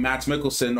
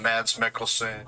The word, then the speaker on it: Mads Mikkelsen: the biggest elephant in the room with having matt mickelson or max mckelson i could never i gotta research how to actually really pronounce this guy's uh name hold on uh mads mickelson iron man kate blanchett and ragnarok as i